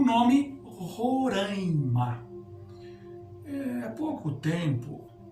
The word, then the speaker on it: Roraima: eh há pouco tempo criou-se um modismo né de de se usar se pronunciar Roraima que não tem sentido né Se nós formos pronunciar Roraima então nós temos de pronunciar andaime em vez de andaime existe aí uma nasalização à esquer então não pronunciem Roraima não pronunci rima a